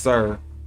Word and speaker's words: Sor: Therefore, we have the heavenly wolf Osiris, meaning the high eastern sun, from Os, high, and Sor, pronounced Sir, meaning east, hence the morning sun.